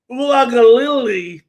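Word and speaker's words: Uiagalelei: So that means the guy whose name I could never pronounce, when they got him, GJ, I believe is pronounced Ulagalili, is their future at quarterback.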